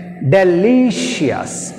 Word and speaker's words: delicious: takes the second syllable notorious law tori second syllable ceremonies ceremonies next delicious deliciously she she has one leaf two second